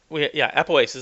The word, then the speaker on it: apoapsis: When it gets close to that mark, that apoapsis, apoapsis, that's how you say it.